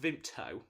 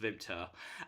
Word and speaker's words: Vimto: vimta so it's pronounced vimto but up north where i'm from we don't pronounce the t so it's just vimta um and it's like